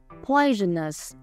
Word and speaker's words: poisonous: Poisonous. Âm tiết thứ nhất.